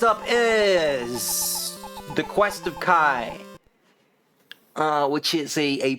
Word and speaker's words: Ki: is the quest of Kai uh which is a a prequel to the Tower of draga and uh and it is pronounced Kai I I don't know why they write it as key I guess they were